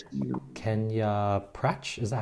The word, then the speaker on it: Prach: Kenya Prach? Is that how to pronounce it? Yeah, Prach. Yeah, it's a French. You can pronounce as French, Prach.